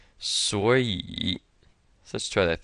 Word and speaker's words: 所以: 2 third tones together, so this one's gonna change to a second tone. 所以.